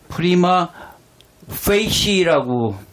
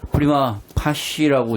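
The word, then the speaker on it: Prima Facie: 프리마 파시는 제가 이걸 영어 사전을 찾아보니까 프리마 페이시라고 읽어야 되는데 왜 제목을 프리마 파쉬라고 제목을 한글 제목을 붙였는지 모르겠지만 어쨌든 프리마 파쉬라는 작품입니다.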